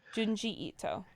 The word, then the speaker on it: Junji Ito: Junji Ito. Jungi, or Ji rather, sorry. Ito. Junji Ito.